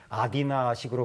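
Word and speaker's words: Αθήνα: 우리는 아테네라 그러지만 아디나식으로 발음을 하거든요.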